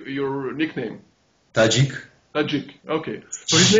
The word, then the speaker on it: Tadzik: Tadzik.